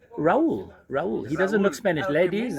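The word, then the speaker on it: Raoul: How do you spell that? R-A-O-U-L. Raul.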